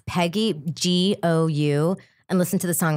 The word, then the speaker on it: Peggy Gou: I just want everybody to listen to Peggy Go, or maybe it's pronounced Jou. It's Peggy Gou.